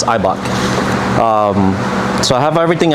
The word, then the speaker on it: Eibach: It's pronounced IBOK. Like some people are like Ebok or whatever. It's IBOK.